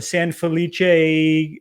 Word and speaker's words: San Felice: along with us this week we're drinking a san felice that's how you say it and i won't